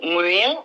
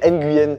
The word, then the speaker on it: Nguyen: Là, tu vois, on avait besoin de cette explication parce que tout le monde fait l'erreur de dire Nguyen, mais on ne prononce pas le N alors.